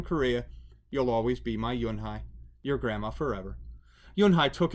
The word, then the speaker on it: Yunhee: Yes, it's pronounced Yunhai. And it means grace, Mr. Kim added. Yunhai, Joey said slowly, and this time perfectly.